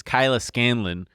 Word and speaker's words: Kyla Scanlon: This is Kyla Scanlon, who is. Did I say that right? Yeah, you said it right. No, a lot of people get it wrong.